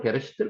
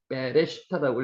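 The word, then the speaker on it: בראשית: 있습니다 점이 찍혀 있죠 점이 찍혀 있으면 요것을 된 발음을냅니다 그러니까 비업 발음보다는 더 된 발음이 쌍 비입니다 빼 그래서 빼가 되는 거죠 빼레 시터 실제로 베레시트 것도 상관이 없습니다 근데 빼레 시트라고 읽으면 가장 정확한 방법이고요 요것도 바라라고 기보다는 점이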